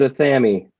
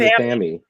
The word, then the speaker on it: athame: He said Athame. He said Athame, Athame. which is actually the correct way to pronounce it because that's how they pronounced it in England.